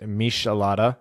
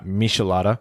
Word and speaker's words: michelada: hope robot says ryan that drink is pronounced michelada thank you because i know i was saying it wrong uh michelada but you're right it's